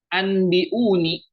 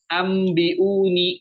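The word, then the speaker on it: أنبئوني: Jadi bacanya bukan anbiuni. Faqala anbiuni. Faqala anbiuni. Bukan seperti itu ya teman-teman. Tapi faqala nunnya kita ganti dengan mim. Ambiuni.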